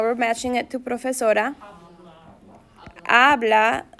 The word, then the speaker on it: habla: Habla, H is silent. Habla, we don't pronounce the H.